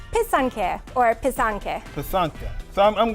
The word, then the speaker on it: pysanky: in time for Easter so how do you say it for some people it's a little hard to say it's from the Ukrainian where passata which means to write so it's piss on care or pisanka pisanka so